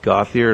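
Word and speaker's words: Gauthier: your address good evening my name is gothier and my last name is spelled g Au u t h i e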